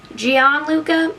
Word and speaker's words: Gianluca: born today his name would be jean luca gianluca it's spelled g-i-a-n-l-u-c-a two thousands hank sharon that'd be